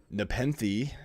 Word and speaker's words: Nepenthe: you all right so I am drinking a Nepenthe as you finally told me what it's pronounced officially alpaca Ruckus triple IPA as well